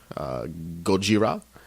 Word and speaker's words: Gojira: We're going to be discussing Spider-Man, The Amazing Spider-Man 2, Gojira, and... That's how I pronounce Godzilla.